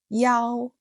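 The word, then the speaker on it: 一: But in certain contexts, like emergency numbers, phone numbers, or ID numbers, it's pronounced Yao to avoid the confusion with Chi 7.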